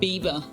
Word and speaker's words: Bieber: Fun fact, the German word for beaver is Bieber, which is pronounced exactly the singer's last name.